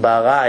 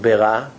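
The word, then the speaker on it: בְּרָא: What's the difference between bara and bera? With shva.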